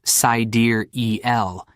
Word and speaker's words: Siderell: Sidereal, pronounced Sidereal, is inspired by the stars, a deep space measurement of time.